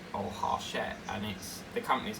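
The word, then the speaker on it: Hachette: I like things pronounced, you know, on time. Like some people will go hatchet or harchette, and the company's called Harchette, but people will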